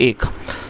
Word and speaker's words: ache: दोस्तों, इसे एच नहीं पढ़ेंगे, ना इसे एच पढ़ेंगे, इसको एक पढ़ेंगे, जिसका मतलब होता है दर्द।